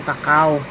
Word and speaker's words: cocoa: Yan ang pinagkukuhaan ng dark chocolate, yung kakao. Kakao o kaya cocoa ang bigkas dyan.